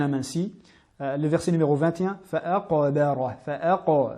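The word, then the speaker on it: فَأَقْبَرَهُ: Le verset numéro 21, fa'aqabara, fa'a, bien mettre en évidence la qalqala du qaf, car la lettre est en plein milieu du mot, elle est assez difficile à mettre en valeur. Fa'aqabara, et bien prononcer la lettre ba amincie. Fa'aqabara, et non ba.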